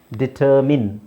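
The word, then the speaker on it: determine: main ನನ್ನ main ಆದರೆ ಇಲ್ಲಿ ನಾವು ಡಿಟರ್ ಹಾಕಿದಾಗ ಏನಾಗುತ್ತೆ ಇದರ ಉಚ್ಚಾರಣೆ ಮಿನ್ ಆಗುತ್ತೆ ಡಿಟರ್ಮಿನ್ ಡಿಟರ್ಮಿನ್ ಬರಿ ಹಾಕಿದ್ರೆ ಬರಿ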